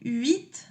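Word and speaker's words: huit: Uit, no se pronuncia la h y solo se dice it.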